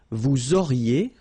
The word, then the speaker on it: vous auriez: Vous auriez, liaison here, and then EZ will go like E.